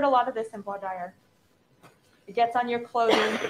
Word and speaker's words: voir dire: It's voir dire.